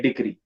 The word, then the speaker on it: decree: it pronounce it as degree it is not degree it is decree i have seen it